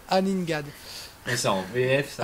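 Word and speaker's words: Aningaaq: C'est Joseph, mais c'est la vraie prononciation, c'est Aningad.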